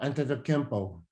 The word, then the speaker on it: Antetokounmpo: How do you pronounce that last name? Oh, Antetokounmpo.